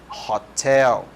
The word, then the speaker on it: hotel: A maioria delas começa com esse som de R, né? Hotel, hotel. E por conta de ter esse som de R, de R, você vai utilizar o A, ok?